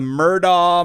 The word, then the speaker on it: Murdaugh: But this is spelled A-U-G-H. Yeah, but it goes Murdaugh.